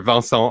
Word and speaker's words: Vincent: online one song so i know my name is a bit difficult to pronounce in french so uh you can you can call me whatever vanson or vincent is fine because we are talking in english today well i'll try i'll